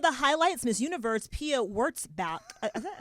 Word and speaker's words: Wurtzbach: Some of the highlights, Miss Universe Pia Wurtzbach. Is that how you pronounce it? I think it's Wurtzbach.